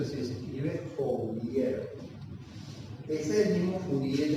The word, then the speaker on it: Fourier: Entonces, lo que pretende, o sea, lo que pretendemos escribir acá es esa ley de Fourier. Creo que se pronuncia así, se escribe Fourier.